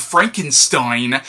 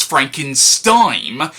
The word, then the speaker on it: Frankenstein: Like, every time I pronounced the word Frankenstein, I was saying it as Frankenstein. Again, something I wasn't really consciously aware of, and when I became aware of it, it was deeply embarrassing to be a grown-ass adult who knows how the name is spelled, and yet I'm still saying it with the N sound in a bunch of